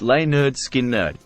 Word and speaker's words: Lynyrd Skynyrd: produce their debut album pronounced lay nerd skin nerd the album marked the